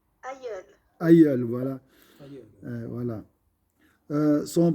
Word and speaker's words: aïeul: C'est juste, ma soeur Zara, j'ai prononcé. Aïeul.